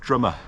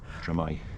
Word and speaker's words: Drymau: From a local, Drumau. Drumau Mountain. But it would be pronounced Drymau. Drymau. Drymau, yeah. But no one locally calls it that, they just call it Drumau, do they?